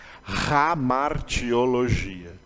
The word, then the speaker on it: hamartiologia: começa com H viu começa com H mas se pronuncia como ramartiologia a função daquele H É mesmo função do H que tem no Aleluia em inglês e quem fala inglês não fala aleluia fala aleluia aleluia porque vem do hebraico